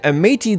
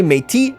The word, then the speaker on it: Métis: We're not going to say Métis, we're not going to say Métis, we're going to say Métis. I don't know where that S is coming from. You know, the S after the T, I have no idea. The Métis right here are apparently how that is pronounced in Canadien, so in Franco-Canadian, in Quebecois.